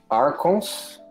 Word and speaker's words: Archons: Hoje vai ser The Return of the Archons. É Archons, se pronuncia, né?